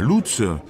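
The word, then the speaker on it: Łódź: qui s'appelle et l'autre je ne sais pas comment on prononce mais oui bien sûr c'est en pologne mais les polonais ne prononcent pas comme ça tu coc exactement je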